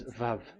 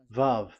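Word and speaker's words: ו: So the word, the shape Vav is really pronounced V, like Vogue.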